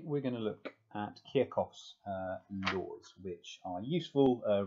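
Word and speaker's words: Kirchhoff: to say a pronunciation i keep forgetting how to do it kierkov i kept it i think for ages i had to lose kirchoff which was incorrect so let's go back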